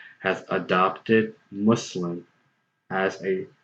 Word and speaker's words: Muslim: this english word so when you make the sound us when you say the US and mu s.l.i.m it is identical to the sound that you make when you say the USS in the word was I mean this sound exists in the English language so when you say